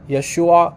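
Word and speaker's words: ישוע: in aramaic the only difference is is it pronounced yeshua like that there's a minor difference in how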